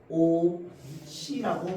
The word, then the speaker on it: 옷이: 요거는 발음 우리가 어떻게 합니까? 오, 시라고 발음하죠.